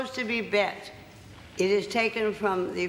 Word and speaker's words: Bette: lot of people here call you bet I think in America it's Betty isn't it mostly Betty and well no sometimes it's beat beat yes be I don't like that very much oh beat Davis do